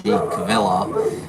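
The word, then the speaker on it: Kvilhaug: eric eric what because his name's kind of hard hard to hard to pronounce uh when you look at it k-v-i-l-h-a-u-g cavilla and he goes it's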